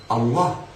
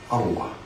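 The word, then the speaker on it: الله: Il faut doubler la lettre, c'est-à-dire cette lettre-là, elle est double. Il y a 2 lames.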